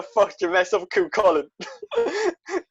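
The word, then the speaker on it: Cú Chulainn: How the fuck did you mess up Cuchulainn? Chilean? I'm not the only person that's pronounced it like that.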